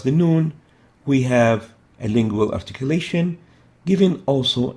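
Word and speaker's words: ه: And it is similar to the English H, pronounced as in rehab.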